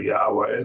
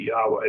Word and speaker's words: Yahweh: Probably Yahweh is probably the correct pronunciation. I think they've done a study on it. I think there's probably some pretty good evidence that Yahweh is the correct pronunciation.